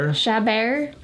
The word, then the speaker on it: Chabert: Chabert.